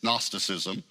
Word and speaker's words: gnosticism: from a greek word the g is silent it's gnosticism it means knowledge a